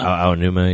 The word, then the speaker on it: Aonuma: Aonuma, yeah, E.G.